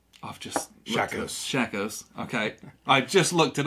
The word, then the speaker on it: Shakos: by a french company called i've just shackles shackles okay i just looked it up and everything to pronounce it because i don't want to mess